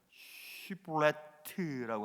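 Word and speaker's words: שִׁבֹּלֶת: 그런데 에브라임 사람들은 그 발음을 못해요. 그래서 신이나 쉰, 삼지창 같이 생긴 알파벳이 있어요. 신이나 쉰을 물방울처럼 생긴 싸맥이라고 하는 단어로 치환했어요. 그래서 발음을 못하니까 씨볼렛이라고 한 겁니다.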